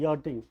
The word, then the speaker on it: yachting: जिसको अंग्रेजी में YACHT, याट, याच लिखते हैं, लेकिन CH साइलेंट हो जाता है, यॉटिंग।